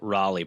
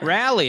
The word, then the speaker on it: Raleigh: our Lord Jesus Christ thank you for pronouncing Raleigh properly they're very particular I've been there a few times so they're like you'll be like rally and they're like oh really you want don't you mean Raleigh so what's the grocery